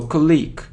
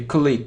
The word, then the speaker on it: colleague: so alone e so colleague colleague it's incorrect so colleague colleague only this so I don't know why but we often hear click click no colleague colleague